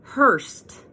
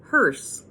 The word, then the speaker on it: hearse: Hurst and I said I'm pretty sure it's not a Hurst he's like I don't know it is it's a Hurst I'm like no it's spelled h EI r s e hearse so we had debate